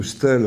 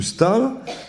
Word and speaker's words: Staël: que j'ai laissé euh j'explique partout que madame de Stal sta e Trema l que j'ai longtemps prononcé madame de Stelle à cause de ce e tréma c'est madame de Stal donc je le dis